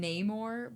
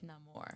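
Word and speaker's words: Namor: See, see, they kept saying Neymar, but Neamor. I think he was pronouncing it like Neamore.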